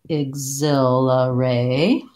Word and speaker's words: exhilarate: So thinking about it as ray, exhilarate, then the T in exhilarating is a flap T.